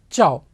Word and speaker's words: ciao: you say this ciao cia is pronounced as cha so ciao now we cannot use